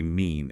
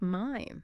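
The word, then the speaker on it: mein: So many learners say mean at first, but it's mine.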